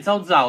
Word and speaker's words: Cao Cao: Si scrive Cao Cao, ma si legge Zao Zao, da quello che ne so.